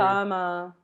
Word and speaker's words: embalmer: Embalmer. Yeah, embalmer. Yes. Yeah. Am Yeah. I saying it right? Embalmer. Obama.